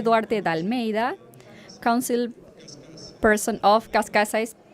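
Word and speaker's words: Cascais: Jose Darte Dalmea, council person of Kascas, Portugal Kashkash Kashkash is the pronunciation.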